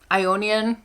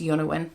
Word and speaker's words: Ionian: But, oh, Ionian, that's not how you pronounce that, it's Yonawin.